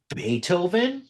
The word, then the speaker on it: Beethoven: So eventually once I found out like an idiot that is like it's pronounced Beethoven like oh my my bad about that and I I picked specifically Moonlight Sonata because it's it's beautiful piano music.